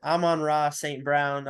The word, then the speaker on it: Amon-Ra St. Brown: I always say his name wrong. Is it Amon-Ra St. Brown?